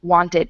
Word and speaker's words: wanted: just have to look does the word end in t or d if it does you say ID needed wanted if it doesn't don't